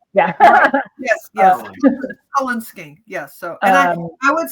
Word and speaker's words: Cullen skink: It's like the Twilight last name, colon. C-U-L-L-E. right. Yeah. Yes. Cullen skink.